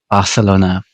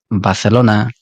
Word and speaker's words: Barcelona: Y es algo muy típico de los anglófonos esto, como Barcelona, Bogotá, con un consonante muy fuerte, en vez de Barcelona, Bogotá.